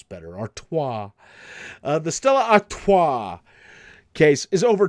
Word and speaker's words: Stella Artois: It's 2 ounces of beer in the Stella Artois. Am I pronouncing that right? Stella Artois?